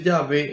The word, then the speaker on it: Yahvé: soy y así Eso se dice yahvé en hebreo yh W H ese eso se conoce como el tetragrama Esas son las cuatro letras y al agregarle vocales Entonces se pronuncia yv porque el hebreo no posee vocales son todas consonantes yh W h en español y ve entonces la gente va